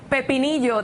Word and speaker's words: pepinillo: So he is in a big, you were asking about, pepinillo, that's how you say it in Spanish, the pickle.